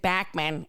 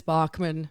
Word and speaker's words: Bachman: Oh, Shantelle, in the intro, lady, I said your name wrong again. I said Bachman, but it's Bachman.